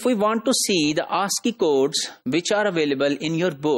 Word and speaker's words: ASCII: Interchange, that is called ASCII, and that is pronounced as ASCII. So that ASCII had 7 bits for information representation, and most significant bit was just 0.